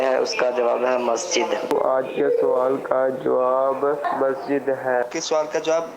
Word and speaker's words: مسجد: و غریب انداز میں درست تلفظ کیا ہے؟ میرے خیال میں مسجد ہے. مسجد مسجد جی مسجد. اچھا اب اس میں زیادہ وہ قلقلہ بھی نہیں کرنا اور جماع بھی نہیں کرنا.